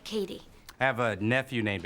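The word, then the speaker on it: Cady: really hope you're embarrassed it's pronounced like Katie I have a nephew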